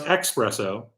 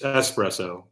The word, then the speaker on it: espresso: Which I pronounce espresso, which you're not supposed to. It's espresso.